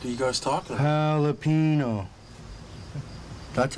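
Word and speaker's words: jalapeño: Ricky, the J's silent. You're saying it wrong. The J's like an H, Ricky. Jalapeno. Not jalapeno. What in the fuck are you guys talking about? Jalapeno.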